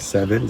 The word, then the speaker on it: Sevin: Now I've spoken to you guys already about 7. The S, it's spelled Sevin, and it's a over the counter.